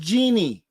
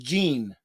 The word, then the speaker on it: Jean: Oh, so your name is pronounced Jeannie. So your name is pronounced Jeannie? Let me see. My name is pronounced like in I Dream of Jeannie, just no I. Oh, your name is pronounced Jean.